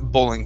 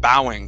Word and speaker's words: bowing: to gentle uh oh sorry not bowling but bowing bowing to gentle winds try that okay go